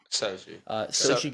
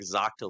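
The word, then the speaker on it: Xochitl: Sochi Gomez. No shot. I would not have gotten that right. I was going like Zoctil or something.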